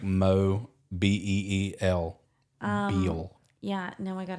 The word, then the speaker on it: Mobile: Courtney has a hat that's literally just the pronunciation of Mobile, Really? like Mo Beel.